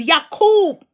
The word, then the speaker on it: Yakob: Oh children of Yakob, children of Jacob, commonly known Jacob, but the cleaner term, THE PROPER pronunciation is Yakob, THE OFFSPRING OF YAKOB, the 12 tribes, his chosen ones.